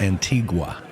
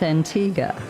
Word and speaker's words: Antigua: I did talk to him about Antigua, and it's not pronounced Antigua. It's Antigua.